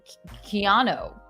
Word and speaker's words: Keanu: and also I think Reeves pronounces it I think it's almost slightly different keano you think maybe yeah